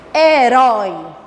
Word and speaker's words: herói: Olha que o O fica forte. Herói. Então ficou forte, eu consegui identificar. Qual é a sílaba que está forte? É a última. É a última sílaba?